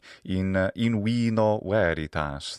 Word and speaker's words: in vino veritas: In vino veritas, that'd be a little classical Latin way to say in vino veritas. That was the more ecclesiastical pronunciation.